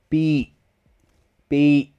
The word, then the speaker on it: beach: So, this one stops with a glottal stop. It only stops with a glottal stop. Beach. My tongue does not touch. So, this is my tongue and my mouth pronouncing this word. The back of my tongue is up. The front of my tongue is hanging down loose. Beach. What stops the word is my throat here.